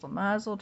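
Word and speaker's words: shemozzle: Pronounced Shemazel to rhyme with din nozzle.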